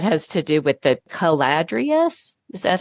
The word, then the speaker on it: Caladrius: And that has to do with the Caladrius. Is that how you say it? Yeah. Caladrius.